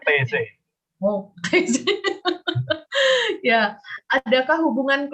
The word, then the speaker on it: Taizé: TZ, bacanya TZ.